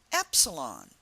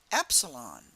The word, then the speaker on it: epsilon: sound of the letter we say epsilon and that Epsilon has an e sound Epsilon the next letter